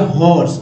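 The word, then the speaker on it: hoarse: यहाँ ए नहीं है, ए लग गया तो ये हो गया हॉर्स। उच्चारण वही हॉर्स, हॉर्स, हॉर्स का मतलब होता है कर्कश स्वर, कर्कश।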